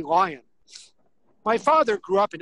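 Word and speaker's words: Lyon: on a street called lion street it's spelled l-y-o-n now that probably should be pronounced leo but in san francisco we say lion my father grew up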